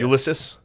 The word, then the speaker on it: Ulysses: Ulysses. Yeah. How do you Why say do you his hate name? Custer? How do you say Ulysses?